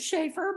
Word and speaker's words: Schaffer: Schaffer. I pronounce it Schaefer, but welcoming smile, which is difficult during COVID.